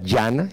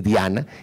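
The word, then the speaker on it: ध्यान: sánscrita que se escribe, se puede pronunciar de dos maneras, yana es la más corriente, pero uno con esa de adelante dice diana y no está mal decirlo así. El fundador del zen era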